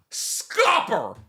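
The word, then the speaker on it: Scopper: Um whose name is S C O O P E R. How scooper. Scooper, right? You'd say scooper because it's the word scoop and then e r. But nope. Guess how it's pronounced. Scoper.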